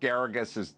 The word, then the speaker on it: Geragos: Drew, but in breaking news, I may move into attorney Mark Geragos' guest house because Dr. Drew's almost out of protein bars. Mark Geragos rhymes with asparagus?